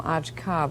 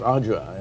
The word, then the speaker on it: Ağca: We've been calling him Ağca, but I gather it's Ağca. Oh, the name is pronounced Ağca in Turkish, yes.